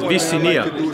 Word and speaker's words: Visinia: last name for us it's in the S way it's viia all right yeah when